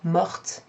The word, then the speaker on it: morte: Sometimes with that past participle mort, the pronunciation changes to morte because the E after the T makes the T sound.